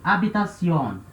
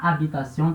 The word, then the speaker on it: habitación: Só que esse H, ele é um H voyelle, é um H muet, H mudo, certo? Então ele tem um comportamento de vogal.